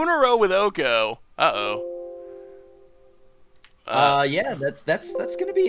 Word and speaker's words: Oko: Yeah, I think Oko's kind of just like okay in this matchup. Oko, not okay. That's not how you pronounce his name.